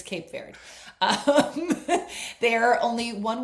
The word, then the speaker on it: Cape Verde: Verde base verde. I was like full on Spanish. Thank you. It's not. It's Cape Verde.